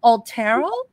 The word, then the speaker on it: Otero: from uh tell me is it altero how to spell your name yes yes that's exactly your pronunciation is great anyway yeah um